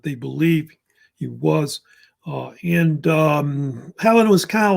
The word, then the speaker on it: Hellen: You see Helen, like H-E, sounds like a woman's name, right?